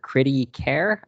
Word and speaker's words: Kriti Khare: I'm here with book blogger Kriti Khare. That is pronounced correct, right?